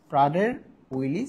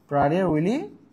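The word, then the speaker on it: Prader-Willi: প্রাইলি syndrome এটা প্রাধার রয়েছে এটা হচ্ছে হয় উচ্চারণ প্রাডের উইলি সিনড্রোম প্রাডের উইলি সিনড্রোম হয় এটা মূলত ওকে আমি ব্যাপারটাকে বুঝাইতে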